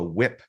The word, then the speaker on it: WIP: learn about a report it's called a whip report it's spelled wi and that stands for a work in progress report now if you've